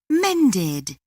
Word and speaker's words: mended: The verb mend has the ending sound d. It is in group 2. Thus, we pronounce ed as it.